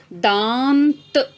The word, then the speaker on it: दाँत: पहला शब्द है दांत, द में आ की मात्रा और उसके ऊपर अनुनासिक लिखा जाता है और इसका उच्चारण, प्रोनाउंसिएशन होगा दांत।